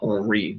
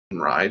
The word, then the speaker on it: Henri: Robert Henry specifically wanted his name pronounced not Henri, but Henry, to rhyme with Buckeye.